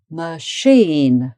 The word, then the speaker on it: machine: Okay, and then machine. So sheen is the strong syllable. Machine.